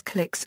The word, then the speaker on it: klicks: In Australian unofficial usage, kilometer per hour is sometimes pronounced and written as clicks or clicks.